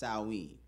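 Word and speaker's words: Samhain: back to the ancient Celtic Festival of Sam pronounced saen the Celtics who lived in who lived 2,000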